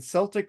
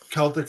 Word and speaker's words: Celtic Frost: Oh, it's but Celtic, not Celtic. My bad. I used to pronounce it Celtic Frost too, and now I say because I think Tom G. Ward says Celtic Frost, so I'm gonna go with the guy that fucking's in the band pronunciation.